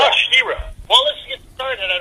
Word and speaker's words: Shira: My name is Shira. It's pronounced Shira. Oh, Shira.